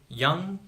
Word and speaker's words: young: sometimes it isn't example young youngest in the word young we do not pronounce G but in the word youngest we pronounce G because there is another soluble after the letter G in the word Cinna